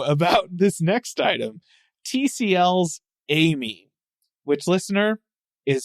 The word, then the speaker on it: Ai-Me: TCL's Amy, which, listener, is spelled AI-me. It's like AIME. 2 words, but it's pronounced Amy.